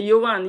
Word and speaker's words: Johan: Ah, okay, Johan, yes, that's how you pronounce J in Dutch.